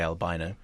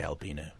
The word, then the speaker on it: albino: however what happens is the Americans say albino British people say albino let's call the whole